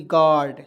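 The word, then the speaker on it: guard: यहाँ आप देखिए जी से ग लिखेंगे, ए का प्रयोग करेंगे, आ की मात्रा, यू को इसमें साइलेंट करेंगे, ठीक है। और देखिए डी से ड लिखेंगे और आर को इस पर कन्हैया चढ़ा देंगे, क्या हो जाएगा दोस्तों, जी यू ए आर डी, गार्ड।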